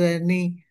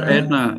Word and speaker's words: Erna: It's been Dr. Erna, Mr. Kaushik, we spell it Dr. Erna. Dr. Erna. My name yeah, Erna.